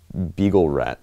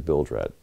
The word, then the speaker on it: Bilge Rat: Also, how did you manage to pronounce my name as Beagle Rat last time? I don't know. I don't know why I pronounced it like that. It is Bilge Rat.